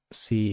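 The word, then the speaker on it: psi: C is the stream function. Sigh. I I I've heard it pronounced both Sai and C, I think. Yeah, I always heard Sai.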